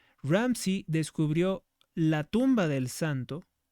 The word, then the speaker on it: Ramsay: hasta que el arqueólogo William Ramsey, Ramsay se escribe William Ramsey. Ramsey descubrió la tumba del santo.